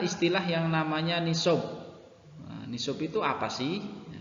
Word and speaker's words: nisab: yang namanya Ni Sob nishob itu apa sih atau tulisannya di situ nisab bacanya nih sob oh my shop adalah